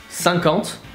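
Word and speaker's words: cinquante: funny anymore so 50 sang count sank and aunt like antepenultimate but without penultimate then 60 here you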